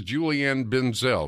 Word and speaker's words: Julianne Benzel: me with me is Julie Ann Ben Zell am i pronouncing your name ma'am yes sir you are okay nice to talk